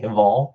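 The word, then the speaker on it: Hval: There's no vowel where you think there would be between that H and that V. So I'll just say Haval for now.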